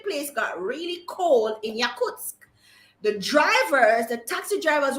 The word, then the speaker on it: Yakutsk: right first of all another quick interesting fact yakuts and i'm sure that's not who is pronounced yakutsk yakutsk is the coalesce place in europe really